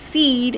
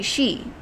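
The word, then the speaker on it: sidhe: she she is s-i-d-h-e i thought it was pronounced seed at first but it's actually she so banshee it's easy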